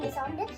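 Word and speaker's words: décembre: दिसंबर इसका प्रोनाउंसिएशन डिसॉम्बर और DE मतलब हूँ गाइस, मे का होता है माई, MAI।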